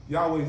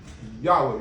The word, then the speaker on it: Yahweh: Yahweh's name is Yahweh, not Yah. That's a prefix. You got different variations, Yehovah or whatever, but his true name is Yud-Heh-Wav-Heh Yahweh. Pronounced Yahweh in English, Tetragrammaton, Yud-Heh-Wav-Heh.